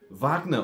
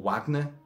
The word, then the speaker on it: Wagner: But Wagner has said, like, did he call him Wagner or Wagner? I mean, usually from Germany and going eastwards into Europe and, well, Eastern Europe, you drop the W and it becomes a V in pronunciation.